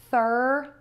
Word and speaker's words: thermometer: And now we're gonna change the stress for the ometer suffix, which is the ending, for words like thermometer and speedometer.